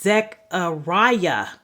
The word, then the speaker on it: Zechariah: And then the next book is Zechariah.